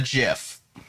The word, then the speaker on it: GIF: the creator of the gif or gif if you pronounce it that way but they technically say that it's supposed to be pronounced jiff so i'm we're i'm